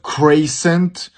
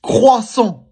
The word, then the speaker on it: croissant: That is not croissant or croissant. It's croissant, croissant.